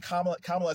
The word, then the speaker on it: Kamala: again, and he said, Vice President Kamala Harris, it's Kamala. He said, no disrespect. Thank you for calling me out. I wasn't trying to be, those two got more upset about him saying Kamala Harris's name wrong than